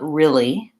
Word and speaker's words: really: I can say R, make sure I can say Lee, and then that I can move from R to Lee, R, Lee, R, Lee. If I have to go slowly each syllable at a time, I'm going to do that. Make sure my R is back and my L is forward.